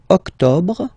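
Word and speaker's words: octobre: the final sept sept then same thing here don't insist on the final octob octob October no nov nov okay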